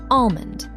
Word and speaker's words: almond: Number seven, almond. Let's head to the kitchen. How do you say the name of this popular nut? In Standard American English, that L is silent.